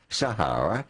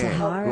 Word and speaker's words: Sahara: Yeah, Sahara. like the desert.